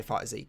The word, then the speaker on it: FighterZ: I thought you don't pronounce the Z separately for Dragon Ball FighterZ, so it's just like fighters but with a Z.